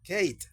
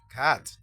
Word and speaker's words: cat: Si tenemos la C, la A y la D, que nos lleva E final, entonces ya no diríamos como Kate, sino que decimos cat, significa gato.